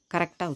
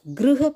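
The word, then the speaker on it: गृह: ஸோ கிரு அப்படிங்கிறத கரெக்டாக உச்சரிக்கணும். கிருஹ பிரவேசம், கிரக பிரவேசம் இல்லை, நம்ம கிரகத்துக்கு போகலை, கிருஹ.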